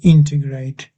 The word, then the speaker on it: integrate: Integ in integrate. That's it. Integrate. Yeah. That's right. Integrate. Yeah. It's almost as if there's an R about there.